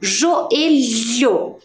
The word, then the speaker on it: joelho: Olha o som, joelho. Combina, né? Mas lá com a pronúncia da palavra melhor.